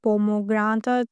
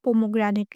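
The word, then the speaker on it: pomegranate: पोमोग्रेनेट बहुत सारे लोग हैं जो अनार की इंग्लिश को बहुत गलत प्रोनाउंस करते हैं। जैसे कि पोमोग्रेनेट पोमोग्रांता पता नहीं क्या-क्या प्रोनाउंस करते हैं। लेकिन आपने इसकी प्रोनाउंसिएशन ठीक से प्रोनाउंस करनी है। इसको पोमोग्रेनेट कहते हैं।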